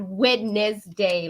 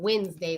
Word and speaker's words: Wednesday: Wednesday, not Wednesday, like the way it's spelled out. I'm saying Wednesday, like we're winning today. Win. Even though I spell it like they spell it with the WEDNESDAY.